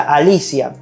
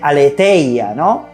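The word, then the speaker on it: ἀλήθεια: verdad y la vida las palabras verdad en griego se pronuncia alicia sí como el nombre alicia muchos teólogos dicen aletheia pero bueno se pronuncia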